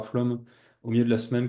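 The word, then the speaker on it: Flåm: écrit flamme en fait c'est un a avec une petite bulle au dessus je pense que ça a pas été pris en compte ici dans la police d'écriture et donc en norvégien on prononce bien flum et flum c'est donc une un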